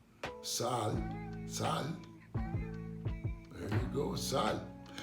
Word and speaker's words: sal: Sal.